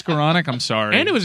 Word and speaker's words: Skowronek: it's Skowronek. It's Skowronek. I'm sorry. And it was a game late. It's a fun. Rhymes with colonic.